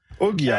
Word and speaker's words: Oghia: Oghia, exactly. You pronounce Exactly.